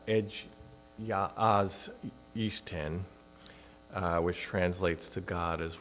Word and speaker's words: Egy az Isten: for early Unitarianism, and which in Hungarian is pronounced Egy az Isten, which translates to God as one, and then